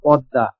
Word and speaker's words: পদ্মা: যেমন আপনার বাংলা এমন শব্দ আছে লেখায় আসে পড়ায় আসে না, যেমন পদ্মা, আপনি ভাঙ্গে মানে যদি আলাদা ভেঙ্গে উচ্চারণ করেন তাহলে পদ্মা হয়, কিন্তু ওখানে উচ্চারণটা আসবে না।